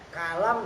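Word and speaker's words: كلام: Kalam, nah pertama dibahas dengan bifathil kaf, dengan dibaca fathah kafnya ka.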